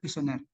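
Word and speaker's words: questionnaire: Bacanya kuesioner.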